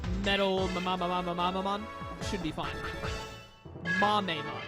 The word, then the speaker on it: Mamemon: The people who told me just, like, think of Kamehameha and then pronounce it like that, assuming that Mame is how you say it, then, you've given me the best cheat sheet of all time. I just have to say Kamehame, and then I know it's Mame.